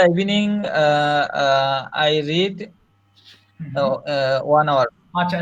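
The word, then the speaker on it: read: ইন the evening I রিড one hour আচ্ছা রিড এর past form বানানটা same থাকলে উচ্চারণ রেড হয়ে যায় আবার বলেন আই রেড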